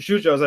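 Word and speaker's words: yuyos: style a shoe Joe's I pronounce to shujaaz I pronounce a weird but Argentinian kind of way but that just means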